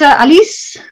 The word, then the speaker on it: Aliece: My name is Aliece. I pronounce it Aliece because I was born in Holland and that's the way